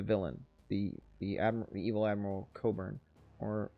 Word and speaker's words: Cockburn: i played the villain the the evil admiral coburn or it's spelled burns we call them